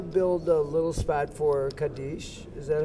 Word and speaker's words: Kaddish: We'll build a little spot for Kaddish. Is that how you say it? Kaddish, but that's okay.